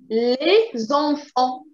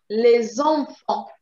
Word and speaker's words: les enfants: Les enfants. Les enfants. Les enfants. Les enfants. Les enfants. Les Les enfants. enfants. Les Les enfants. enfants. Good. Les enfants. Okay, you don't pronounce the T.